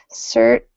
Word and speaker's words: certainly: Remember certainly that strange pronunciation. Certly certainly, there you are.